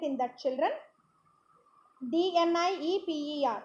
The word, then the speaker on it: Dnieper: Dnieper, in that D is silent, it is pronounced as Dnieper, and the Olga are the major rivers in Europe.